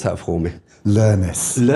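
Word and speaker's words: Lernis: Pronounce that for me. Learnis.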